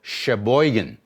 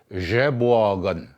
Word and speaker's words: Sheboygan: Number one, there's a place here in Michigan that's called Sheboygan. That's the way they pronounced it. And it's actually supposed to be pronounced Jeboagan.